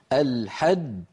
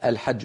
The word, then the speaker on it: الحج: تتألف من الحاء المفتوحة ثم بعدها جيم مشددة. ما معنى مشددة؟ يعني فيها جيمان ساكنة ثم جيم مضمومة. الحج حج، هذه الأولى الساكنة مدغمة يعني تخرج بالتصادم.